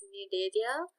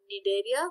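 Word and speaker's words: Cnidaria: have sealant trader which is also known as need area the sea is silent it's called need area but the sea is supposed to be here just just because you say need area do not omit the sea that will cause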